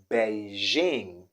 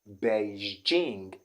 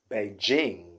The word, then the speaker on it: Beijing: city in china uh many people do say beijing beijing okay they use the sh sound in this particular situation but i want to tell you that that's not the sound there the sound there is the g so it doesn't change okay so what we have there is beijing beijing beijing not but beijing okay let's go over